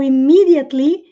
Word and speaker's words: immediately: É o immediately, o D quando vem entre sons de vogais. Os americanos costumam pronunciar com som de R.